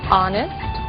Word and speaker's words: honest: Blue White red yellow o som do H pronunciado desde a garganta como em hotel e mudo em três casos our honest Honor e a frase de